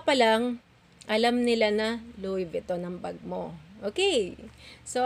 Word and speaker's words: Louis Vuitton: By the way, mommy, ang pronunciation ng Louis Vuitton, hindi po Louisa, Louis Viton. So tatanggalin niyo yung S. Sa ano lang siya is Louis. So wala po siyang S pagponoun siya.